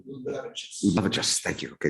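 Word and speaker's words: Liulevicius: Vejas Luluvicius, did I pronounce that correctly? Luluvicius, thank you. Okay, just got the stress wrong.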